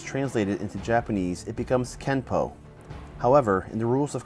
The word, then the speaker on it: Kenpo: this would mean that Kempo is technically spelled with an N but should be pronounced with an M through romanization it is